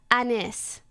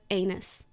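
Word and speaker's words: Anys: heard letters right yeah it's spelled a-n-y-s and it's pronounced Anis and he looked me dead in the eye and he goes anus not as a question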